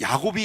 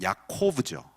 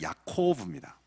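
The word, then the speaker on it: יעקב: 이 야곱이 야복강에서 싸웠다라는 표현을 히브리어로 읽으면 참 재밌습니다. 이 야곱이 히브리어 원발음으로 읽으면 야코브죠. 야곱 우리는 읽지만 야코브입니다.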